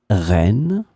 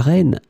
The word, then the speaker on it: reine: In this lesson, we will see together 3 words that are written differently but pronounced the same way. Reine, reine, reine.